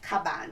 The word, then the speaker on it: Caban: has the information on the caban and it's pronounced caban yes so it's spelled c a b-a-n right